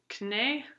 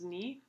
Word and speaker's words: knee: now it's pronounced night knee was pronounced kanae and now it's pronounced knee and here's some examples